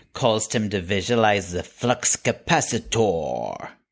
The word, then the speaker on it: flux capacitor: Doc pronounces H pronounces flux capacitor with the stress on the or o the O signed as in for four however in contrast Christopher Lloyd who said it rhymed with diameter and then there's an